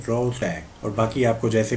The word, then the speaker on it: Rorschach: ठीक है, तो इस वर्ड को प्रोनाउंस कैसे करना है आप इस पे देख सकते हो गूगल ट्रांसलेट में। रोशैक तो इसको कहते हैं रोडसैक।